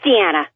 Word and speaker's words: Diana: your name is deanna it is deanna okay i okay you know i have a call screen and i can only go by the call screen it's it's spelled diana i get it all